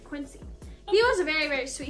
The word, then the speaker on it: Quincy: we have quincy quincy i was saying it like queasy earlier so i made sure i said it right quincy he was very very